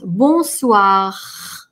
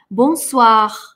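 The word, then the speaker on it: bonsoir: осознанно то есть произношу давайте посмотрим ещё раз бонсуа бонсуа так можно и это правильно и это чаще встречается и так мужу и послах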